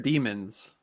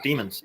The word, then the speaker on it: Demons: Demons. So, you pronounce it demons. Oh yeah, demons. Yeah, because the E is before the A.